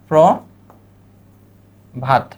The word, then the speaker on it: প্রভাত: আসে আমরা মনে রাখবো দুইটা প্রভাত প্র একটু আগে দেখাইলাম প এর সাথে কি আছে পয়রফুলা ওকার আছে পয়রাফুলা ওকার তাহলে এখানে কি হবে ওকার হবে ওকার হবে এ পয়রফুলা আছে তাহলে এখানে কি আসবে পয়রফুলা ওকার প্র ভাত প্রভাত পরবর্তী শব্দটা ভরসা ভরসা